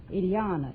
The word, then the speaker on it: Ilana: is that right Ilana it rhymes with Manana okay are you related